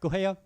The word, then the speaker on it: Guo: Yeah, it' be I'd say if you have a hard G. Yeah, great. Guo preset.